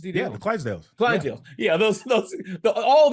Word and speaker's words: Clydesdales: little puppies Budweiser commercial The clads Dales any pronounce the word those horses clients yeah the Clydesdales Clydesdale yeah those those all that is done